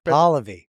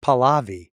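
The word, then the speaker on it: Pahlavi: Pali. Pali. What were you saying? I thought it was Palavi.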